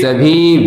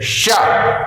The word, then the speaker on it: श: स्पर्श करती है वे सभी व्यंजन तालव्य कहलाएंगे, उनका उच्चारण स्थान तालु होगा। इसी प्रकार से जब ये श बोला जाता है श, तो हम आप थोड़ा जैसे सा बोल देते हैं, लेकिन इसको इसलिए आपने